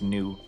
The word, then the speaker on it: gnu: No, GNU is an animal. Yeah, true. Even though that's pronounced new the reason why I know that as in I knew you were trouble when you walked in.